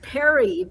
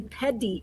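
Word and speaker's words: pedí: It sounded like he said Perry, but I think he was really trying to say pedi, which is like to request.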